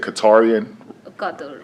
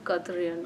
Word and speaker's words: Qatari: how do you say it, Qatarian? Qatarian. Yeah, I guess citizen. probably, yeah, What's your yeah. citizenship? Qatari, yeah, it's called Qatari. Do you have dual citizenship? Oh, it's No. Qatari.